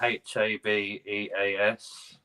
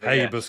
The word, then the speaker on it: Habeas: It's spelled Habeas.